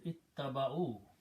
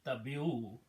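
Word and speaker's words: اتبعوا: Okay, so now if I pronounce, it is ittaba'u, actually ittabi'u.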